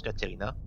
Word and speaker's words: Ekaterina: Retour à l'université donc pour faire le rapport à la patronne Caterina, qui s'écrit Ekaterina, mais qu'on prononce Caterina.